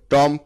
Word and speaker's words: tomb: বানান দেখে মনে হচ্ছে টম্প, কিন্তু টম্প সঠিক উচ্চারণ নয়। সঠিক উচ্চারণ হচ্ছে টোম। তাহলে TOMB, টোম। এখানে বি হচ্ছে সাইলেন্ট ওয়ার্ড।